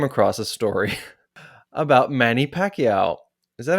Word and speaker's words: Pacquiao: And I was reading through the news and I came across a story about Manny Pacquiao.